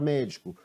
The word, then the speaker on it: médico: Qual foi essa sílaba na palavra médico? Foi a sílaba mé, e a sua posição é a antepenúltima sílaba.